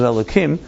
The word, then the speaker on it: Elohim: You don't pronounce the K. It's usually pronounced with a hey, but you pronounce it Elohim.